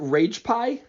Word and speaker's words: Ragepiee: pronouncing your name right is it rage pie yes it is okay because there's an extra e so I wasn't sure if I was pronouncing it right yeah that's because uh